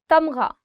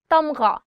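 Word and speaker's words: تمغہ: Tamgha, medal. Tamgha, gha. The sound of gha, or the alphabet ghain, is always coming from here. So try it from here. Tamgha.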